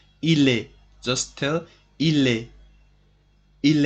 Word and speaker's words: il est: Il est, S and T in this word are not pronounced. Il est, just tell il est.